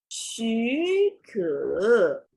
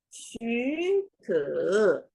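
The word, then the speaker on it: 许可: the sound change rules, we should change the first ones from the third tones into the second tone.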